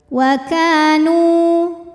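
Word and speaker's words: وكانوا: Wa kanu. Nu hukumnya mad tabi'i zahiri karena ada waw sukun didahului harokat dhammah, maka nun panjang 2 harokat.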